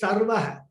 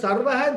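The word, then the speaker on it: सर्वः: Because otherwise, in Sanskrit, if we just even emphasis change is there, meaning will change. That was Sarvaha, this is Sharvaha, Shah.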